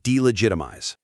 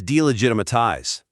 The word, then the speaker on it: delegitimize: The part about the word delegitimize, right? Where she adds an extra syllable. She says delegitimatize.